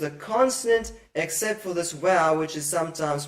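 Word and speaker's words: ו: There's only one exception to this rule, and that is the conjunction wow, which is sometimes pronounced as oo.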